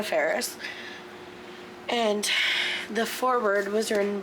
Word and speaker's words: Faris: I've always pronounced her name Anna Faris. I am wrong. I apologize. Not that she's ever going to see this, but I do apologize. It's Anna Faris.